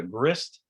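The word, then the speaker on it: GHRSST: continuing the grist partnership and improving arctic data grist that's how you pronounce it is an acronym stands for group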